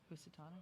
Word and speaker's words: Housatonic: Housatonic?